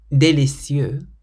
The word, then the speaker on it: délicieux: So you pronounce délicieux and très, like this. Délicieux, très. So it's délicieux, but très.